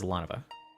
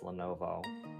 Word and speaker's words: Lanova: Blue is Lanova. You know, for the longest time, I thought that name was Lenovo.